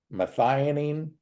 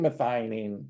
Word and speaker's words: methionine: at home to type in these three words methionine and it's spelled me t h IO ni I ne